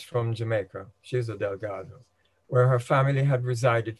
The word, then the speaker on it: Delgado: family name is pronounced delgo in Jamaica but I'll try and use the Spanish and Portuguese pronunciation of Delgado throughout I may lapse it